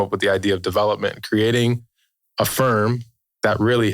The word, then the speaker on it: DVLPMNT: Development. Yeah. But it's spelled.